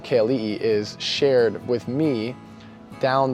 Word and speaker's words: Keali'i: at the beginning because people really struggle to pronounce it, is Keali'i.